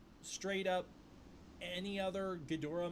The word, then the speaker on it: Ghidorah: I'm gonna assume you're saying Ghidra pronunciation. I'm pretty sure even the novelization used it at one point. That's true. I feel like straight up any other Ghidorah mispronunciation that people make